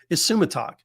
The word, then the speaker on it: Isumataq: title for today's episode uh that word is pronounced isumatak it literally translates as the one who holds